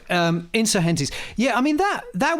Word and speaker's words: Insurgentes: You're pretty close. It's It's Insurgentes, which is the the Spanish I I I did a lot of interviews around the time Spanish for "vertical complexity"? Guess what it's Spanish for. No, but I remember doing interviews at the time and being interviewed by American DJs, bless them, and they were pronouncing it Insurgentes. Insurgenies. Anyway, Insurgentes.